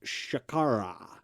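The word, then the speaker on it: शर्करा: comes from a sanskrit word uh that is pronounced shakara and then exactly anything to do with your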